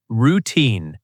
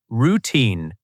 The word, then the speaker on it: routine: Routine. Pronunciation tip. Stress on the second part. Routine.